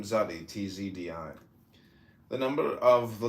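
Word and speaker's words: Tsadi: This paragraph of the meditation is merely the development, letter by letter, of some of the implicits of the letter name Zadi, TZDI.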